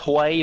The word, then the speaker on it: Huey: picture on position please it's Hawaii from ploys kitchen way it's it's Hawaii my way for thinking that you're an Arab for the Guinness it's pronounced Hawaii men